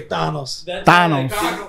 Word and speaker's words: Thanos: you people to know that's how you properly pronounce him Spanish way Thanos like that's why I